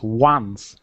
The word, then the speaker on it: once: Doesn't have a W, but we pronounce once like W. Yeah. Yeah. It kind of looks like once, but we pronounce that word like once, almost like there was a W there.